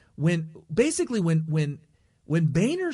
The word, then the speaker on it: Boehner: Westchester yeah but so we actually know the proper pronunciation but its Boehner but anyway the point